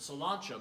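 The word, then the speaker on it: sláinte: the irish gaelic word okay salon ciao we pronounce it salon show but it's spelled SL a i am te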